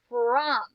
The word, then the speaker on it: from: That O is making a short U sound in this word too. From.